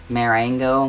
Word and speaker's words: Marengo: affair and i'm debating on getting the napoleon marengo model that's how it's pronounced I want to try and get as